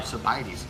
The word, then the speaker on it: Sabaidee: we talked about our I'm sorry sabaidee I've been saying it wrong all young that's another reason why we have to clear things up here Fighting's like by me a cup of coffee sabaidee that's how she explains it so that there